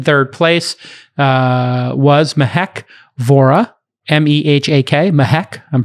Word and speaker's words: Mehak: M-E-H-A-K, Mehak, I'm pronouncing it correctly.